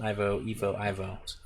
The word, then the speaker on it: Ivo: You already told me how to pronounce it. I already forget. I'm so Yeah, bad. Ivo. Ivo. Evo would be an E.